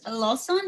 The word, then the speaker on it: Lawson: very very special guest uh he is face lawson did i um pronounce it good your last name he did